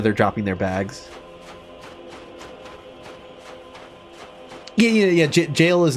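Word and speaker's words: Gaol: So, it took time later on to realize, like, oh, it's just pronounced jail, because that is...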